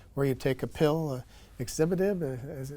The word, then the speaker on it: Axitinib: or frontline treatment, where you take a pill, Exhibitive. How do you pronounce that, doctor, exactly? Axitinib.